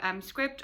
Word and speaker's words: Scribd: 30-day free subscription to Scribd or Scribed, however you want to pronounce it.